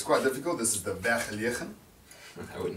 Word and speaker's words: Vergelegen: This is the Vergelegen. I would not have said it. Our winemaker, Francois Rotenbach, oh sorry, not winemaker, our wine director, he actually likes to pronounce it to the Americans as Vergelegen.